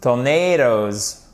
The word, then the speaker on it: tornado: Faites bien attention ici parce qu'à chaque fois, vous avez l'accent tonique sur la deuxième syllabe, d'accord?